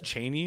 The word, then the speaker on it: Cheney: and i'm assuming your last name is cheney is how you pronounce it yes yeah you